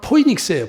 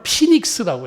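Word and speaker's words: φοῖνιξ: 대추 야자나무는 헬라어로는 포이닉스예요. 포이닉스. 이것을 영어식 발음으로는 피닉스라고 해요.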